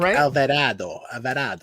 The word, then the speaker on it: Alvarado: tommy half the height his name is actually john alvarado he's the senior technical director you got to say it like alvarado so so they said